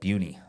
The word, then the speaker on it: Buena Vista: Okay, but they still say Buna. Yep. So, and apparently people from that area call it Buny.